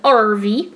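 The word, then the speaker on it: Arvy: So this is RV. RV. But it's spelled A-R-V-Y instead of RV.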